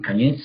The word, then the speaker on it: koniec: And the best word for the end is of course koniec, which corresponds to Russian koniec, the stress on the last syllable.